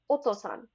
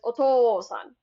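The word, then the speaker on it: お父さん: So then father would sound like otosan otosan versus otoan.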